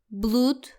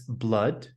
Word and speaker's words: blood: The double o is not pronounced like food. We shouldn't say blood, flute. It's blood and blood. Correct. Blood and flood rhyme with mud and stud.